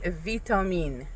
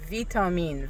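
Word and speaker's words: ویتامین: Vtoine. Vtoine. Very similar. Sounds very similar to the English word.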